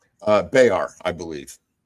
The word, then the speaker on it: Bexar: So, a lot of a lot of people pronounce it like bear and they'll just kind of like slough over it a little bit.